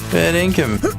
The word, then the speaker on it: fair dinkum: Fair dinkum.